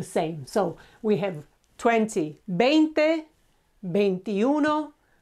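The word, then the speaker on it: veinte: followed by these the next round one is if you remember V is pronounced as a b so sound okay is 20.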